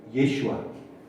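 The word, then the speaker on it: ישוע: 여호수아는 우리가 잘 이름에서 무슨지 조슈아, 본토바로 부르는 예슈아. 누구랑 발음이 같아요? 예수님의 발음과 같죠. 자, 유대인들에게 여호수아 발음하라면 뭐라고 발음해요? 예슈아.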